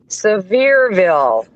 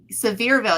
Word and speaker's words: Seville: into we're going to sville you said it Seville you said it right this time high five J said